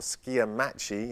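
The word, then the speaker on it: SCIAMACHY: So Sciamachi, or Sciamachi, as correctly pronounced, I think, by the Greek name, means chasing light and shadows, okay?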